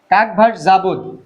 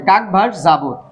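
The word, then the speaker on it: Как вас зовут: তো এটাকে আপনি যখন বলবেন তখন আপনাকে লিখতে হবে কাগ ভাস জাভুত কাকভাস জাবুত মানে আপনার নাম কি কাকভাস জাবুদ এখানেও কিন্তু এই কাকের উচ্চারণটা গ এর মত হবে কাক ভাস যাবত ঠিক আছে কাকভাস জাবুদ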